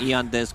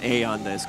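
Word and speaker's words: Aeon Disk: Yeah, Eon 730, Eon Disc removed from the game, Eon Disc pronounced Aeon Disc, okay.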